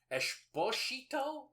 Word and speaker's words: Exposito: And I think it's Esposito, but shit. Well, it's spelled Exposito. Oh, is it? Yeah. Nice. So it's probably Esposito. Esposito? Because of the S is a... No, it's a... Oh my god, it's lispy. Esther Esposito.